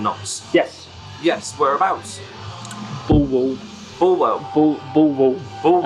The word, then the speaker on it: Bulwell: Bulwell. Bulwell. As you would pronounce if you actually came from there, yeah.